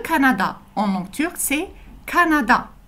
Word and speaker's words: Kanada: Le Canada en langue turque, c'est Canada. La prononciation reste la même, c'est juste que ça s'écrit avec un K. Canada.